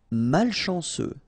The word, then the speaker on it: malchanceux: Malchanceux. Final X not pronounced.